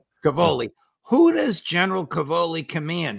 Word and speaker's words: Cavoli: Well, who does General, I think I have his name right, and I should be able to pronounce his last name, Cavoli. Cavoli.